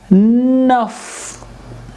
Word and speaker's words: neuf: NEUF again will give nuff, nuff sound. NEUF, F will be pronounced because it fits CFLR rule.